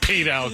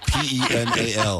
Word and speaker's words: penal: Penile code. Is it penile code or penile? Oh, that's rich. Rich is P E N A L. How do you say that? Penal. Penal. Penal code.